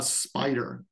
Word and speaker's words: Spyder: console and uh spider spider spelled with a Y so spelled incorrectly kind of like Jupiter is spelled with a Y incorrectly um this uh that's because they both have py in them for python applications and python tools okay um there's a